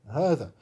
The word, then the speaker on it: هذا: il s'attache à dha, vous voyez le alif il ne s'écrit pas, par contre il se prononce toujours. C'est pour ça que dans le mushaf, vous verrez un petit alif un petit alif qui est juste marqué comme ça au-dessus, pour bien faire comprendre qu'il faut le prononcer, il faut dire hada, il ne faut pas dire hada, bien qu'il ne soit pas écrit.